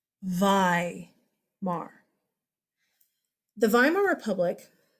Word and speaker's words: Weimar: It's not the Wiener. Kids are always like, oh, it's a Wiener Republic. No, it's not. It's not even spelled the same way. And there's no N. Weimar.